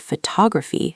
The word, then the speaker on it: photography: For example, photograph has stress on the first syllable, but photography has stress on the second syllable.